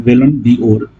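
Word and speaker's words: Ballon d'Or: और बैलन ड'ओर एक्चुअली सही में प्रोनाउंसिएशन है, बैलन ड'ओर जो है वो 8वीं बार लियोन मेसी ने लगातार जीता है।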